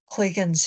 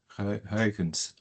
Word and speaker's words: Huygens: But no, as far as what Huygens himself had in mind, so I keep pronouncing it with kind of a U sound because, but it's more like a kind of a long A sound. Yeah, Huygens.